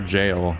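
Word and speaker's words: gaol: same thing as our jail and it's pronounced like jail it's just that word that is spelled g-o-a-l it's the the foundations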